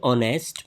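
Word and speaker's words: honest: So right option is option option B एन ही इज एन ऑनेस्ट मैन। एन ही यहां correct option क्यों है? ऑनेस्ट vowel sound से start होता है। एच यहां पर साइलेंट है।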